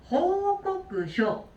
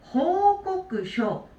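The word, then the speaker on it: 報告書: 이거는 중간 한자를 잘 읽어주셔야 돼요. 이 알릴 꽃자. 알릴 꽃자가 쿠나 코가 아니에요. 얘는 반드시 꼬끄라고 읽으셔야 돼요. 호꼬끄쇼, 호꼬끄쇼, 꼬끄라고 읽어주시면 되겠습니다.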